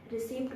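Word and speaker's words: receipt: रिसीप्ट बोलते हैं इसको काफ़ी सारे लोग बट इट्स नॉट रिसीप्ट। इसको हम लोग करेक्ट वे में प्रोनाउंस करेंगे रिसीप्ट। रिसीप्ट, okay. इसमें पी यहाँ पर साइलेंट है।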